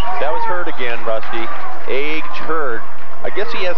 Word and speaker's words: Age: Age Hurd. I guess he has kind of a funny first name, and it's Age. They spell it A-G-E, and it's pronounced age, or it's A-G, I guess.